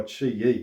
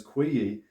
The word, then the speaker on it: QiYi: know is made by chi yi now fun fact i've been referring to them as qui yi and somebody pointed out in the comment that it's pronounced chi and i kind of